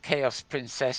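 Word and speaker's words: Xaos Princess: about this you want chaos princess don't net and chaos is felt rather odd is pronounced chaos but it's actually spelled X a o s P R I n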